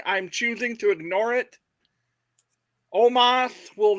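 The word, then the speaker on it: Omos: choosing to ignore it Omas will not win in the world championship almost almost I mean I mean the way they pronounce it on WWE is Omas but like I'm not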